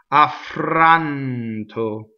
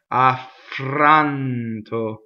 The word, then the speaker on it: affranto: Affranto, double F. Affranto. Notice that the F doesn't really stop so much, right? Not affranto. Affranto. It's on the way to everything else.